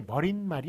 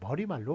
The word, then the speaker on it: 머리말: 수 있느냐 못 보느냐 요거는 발음이 머릿말이 아니에요 그냥 머리말로 발음을 합니다 골인 말이라고 발음 안 하고 꼬리 말로 발음해요 그래서 원래 발음이 머리말